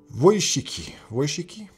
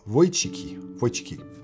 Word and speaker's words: Wojcicki: Wojcicki. Well, no, Wojcicki. My Polish friends help me to pronounce that name. Where is it? Susan Wojcicki. It's the C that always gets me. Wojcicki.